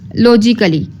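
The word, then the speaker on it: logically: से बोल देते हैं लॉजिकली अब लॉजिकली में ए साइलेंट है ठीक है लॉजिकली में साइलेंट क्या है ए ए को हम लोग नहीं बोल रहे ठीक है अब डाउट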